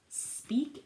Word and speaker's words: speak: Speak is eek, has an E and an A, but it's a long E, okay? Speak, and it rhymes with squeak.